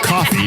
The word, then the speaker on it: Ko-fi: So the Ko-Fi or the coffee is how's that pronounced?